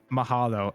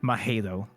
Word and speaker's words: mahalo: hawaiian words right like they'll pronounce mahalo as mahelo oh yeah yeah yeah